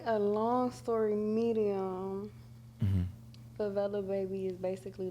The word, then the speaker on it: Favelababy: Hey, I'm Favelababy.